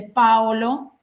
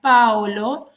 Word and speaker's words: Paolo: de Rimini y de Paolo. Acuérdense que en italiano se pronuncia Paolo y no Paolo, el acento va en la A, Paolo Malatesta.